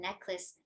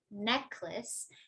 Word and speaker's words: necklace: So in earring, we say earring, and in necklace, necklace.